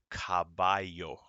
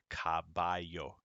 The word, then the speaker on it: caballo: perro the second one caballo the two l's make a y caballo number three carino the